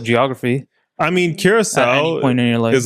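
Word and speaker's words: Curaçao: if you're not, it's not Caraco for sure, right?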